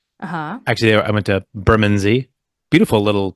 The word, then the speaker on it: Bermondsey: Really hard to say. I always get that wrong. Bermondsey. Bermondsey. Yeah. Bermondsey. I always want to say Bermondsey. I only know because I was there that they told me how to say it.